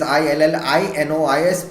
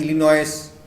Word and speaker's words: Illinois: Spelling is Illinois. People will pronounce it as Illinois.